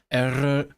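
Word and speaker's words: Eryri: but I really hate saying the name because it sounds bad without a trilled R and like from the last video, you know I struggle with the trilled R, let alone two freaking trilled R in a row, separated by vowel. So I really hate saying this word, like erri.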